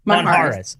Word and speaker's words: Monjaraz: That's interesting because the J is either the J sound or the H sound.